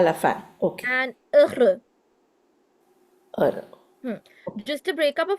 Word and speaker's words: heureux: We know that the alphabet ash has no pronunciation, it's silent. So we start with E. We know that EU as a sound, as phonetic combination sound is E. So technically it's E, R.